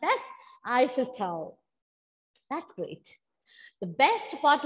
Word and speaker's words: Eiffel Tower: It's pronounced as Eiffel Tower.